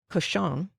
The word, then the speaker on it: cochon: going to give you some spellings right now koshong pierre keshon the guy who is spearheading the